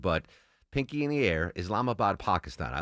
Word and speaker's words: Islamabad: Islamabad, Pakistan.